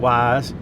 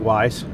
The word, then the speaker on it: Weiss: around here, it's like Wise. If you're from anywhere else, it's like Weiss. So I'll just default to the way the people who live here should decide how it's said.